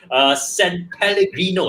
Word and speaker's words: San Pellegrino: This is I keep having a hard time pronouncing its name. San Pellegrino, am I right? You are right.